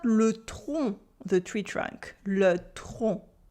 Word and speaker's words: le tronc: Because le train, the train, le train, it is not le tronc, the tree trunk. Le tronc. Can you pronounce it? Le train and le tronc with the silent C.